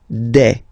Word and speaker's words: des: Okay, and then the plural form, des. All right, here s you pronounce it like e.